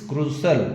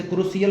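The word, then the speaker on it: crucial: System setting it इज क्रूशल, इसे क्रूशियल मत पढ़िएगा।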